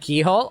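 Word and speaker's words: Cichol: view brother please wait it's pronounced like Keyhole oh really Shah k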